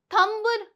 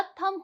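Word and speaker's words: thumb: नहीं होता है ना जैसे कि थंब थंब नहीं होता थम होता है क्या होता है थम होता है थंब नहीं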